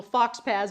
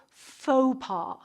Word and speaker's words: faux pas: fox pants so question how do you pronounce this word is it Fox Pass no it's French you pronounce it faux pas so really by mispronouncing